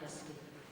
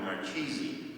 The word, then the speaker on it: Marchesi: welcome Dr Mark history thank you for that excellent pronunciation of my name this came from an investment Saint Xavier where I work right offered an invocation and I was introduced as Dr Marchesi so coming here amongst those I do not know about having my name pronounced correctly is quite a blessing thank you and